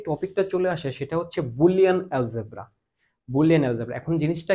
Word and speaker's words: Boole: বুল তার নাম কি জর্জ বুল অনেকে জর্জ বুলই বলে ঠিক না ওর ইংলিশ বানানটা হচ্ছে দেখো জর্জ বুলি এটা হচ্ছে একেকজন